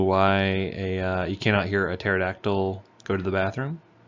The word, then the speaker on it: pterodactyl: you cannot hear a pterodactyl go to the bathroom because the P is silent anywho we're going to